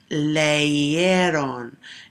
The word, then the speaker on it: leyeron: If I were pronouncing that, it would be leyeron, and it's still making that same sound that the Y is.